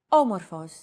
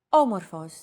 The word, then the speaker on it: Όμορφος: Did you notice the accent mark above the first letter? There is only one type of accent mark in modern Greek, the acute accent. It adds stress to a syllable.